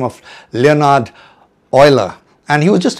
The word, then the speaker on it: Euler: It's not pronounced Yola, but Ola. Obviously this name is derived from the 18th century Swiss mathematician by the name of Leonard Oiler and he was just not a mathematician.